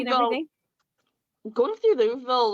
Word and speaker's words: Louisville: Going through Louisville, like, security was a breeze. Wait, you pronounced Like, it wrong. super- They pronounced it Louisville.